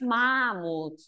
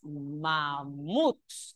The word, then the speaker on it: mamut: La palabra mamut, según el acento es aguda. No es mamut, es mamut, es aguda y termina en ese.